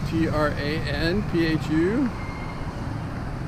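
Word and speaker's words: Trần Phú: This street is called Tranphu, T-R-A-N-P-H-U, and it's pronounced Tranphu, and it's a fun street.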